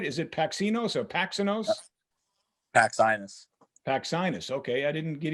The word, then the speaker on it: Paxinos: Did I pronounce that right? Is it Paxinos or Paxinos? Paxinus.